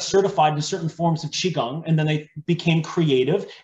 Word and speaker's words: Qigong: So were you saying that Wim Hof's breathing techniques, is that the same Qi Quang? I know I'm saying that wrong. Qigong.